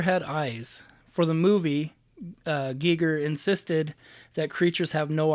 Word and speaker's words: Giger: it says well yeah it said that it's pronounced Gieger okay I always said Geiger entire wrong until I learned wrong okay well